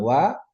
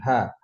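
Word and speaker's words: は: Artinya kira-kira adalah ingat wa dibaca wa ya bukan h itu memang begitu bukan tipo. Terus kalau partikel des itu nunjukin predikat atau keterangan tentang orang yang tadi yang jadi subjek tadi.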